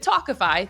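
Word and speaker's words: Tawkify: feel your best when meeting new people with talkify that's spelled t-a-w-k-i-f-y you'll feel confident that you're meeting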